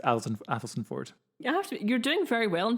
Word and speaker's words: Athelstaneford: It's just pronounced Athelstan Ford. You're doing very well in pronouncing it. Thank you. Some people say Elsenford, but I've never heard of it, so I don't have an opinion.